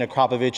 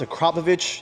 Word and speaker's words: Akrapovič: I am your host, David Nuspam, and today I have the Acropovich shirt, which can only mean one thing. We're going to be installing an Acropovich exhaust system on a car.